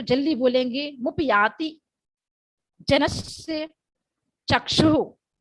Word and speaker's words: चक्षुः: जल्दी बोलेंगे, मुपयाति जनस्य चक्षुः। चक्षु एक लास्ट में विसर्ग है, सांस छोड़ना है, आह का उच्चारण आना है। जैसे हम आह भरते हैं किसी को देखकर, ऐसे उसी तरह से आहा निकलेगा।